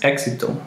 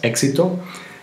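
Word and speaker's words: éxito: known as Eis and it usually has a pronunciation that resembles the sound of the K and the S together and it sounds like as in the words exito success exito exuberante exuberant exuberante and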